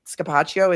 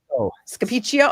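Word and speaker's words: Scapicchio: Rosemary Scapacio is I think that's how you pronounce it is the attorney. Scapichio. Okay. Scapio.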